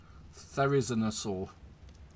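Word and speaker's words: Therizinosaurus: I cannot pronounce that to save my life. It's Therizi. Therizinosaur.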